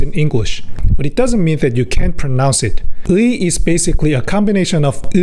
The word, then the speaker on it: ㅢ: So, pronounce “ㅡ” and then “ㅣ” in sequence. That’s how to pronounce “ㅢ”.